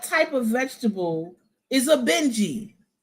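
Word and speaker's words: Bintje: What type of vegetable is a Benji? B I N T J E, but it's pronounced Benji.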